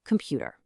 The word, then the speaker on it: computer: Think of the word computer. The first O and the final er both shrink into a schwa so that the middle syllable, pu, can carry the full weight of the word stress.